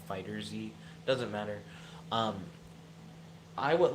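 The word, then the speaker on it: FighterZ: want to call it I've heard fighters as the correct pronunciation but the show is called Dragon Ball Z so it kind of always makes me want to call it Dragon Ball fighter Z doesn't matter I would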